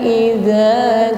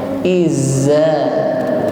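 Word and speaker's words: إذا: Berikutnya za diucapkan dengan ujung lidah bertemu ujung gigi seri yang bagian atas. Idza, ujung lidahnya sedikit keluar. Wal qamari idza. Jadi bukan izza, bukan, tidak berdesis, ya.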